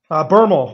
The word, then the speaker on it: Bermel: Is it Bermel, right? Bermel. Rhymes with thermal.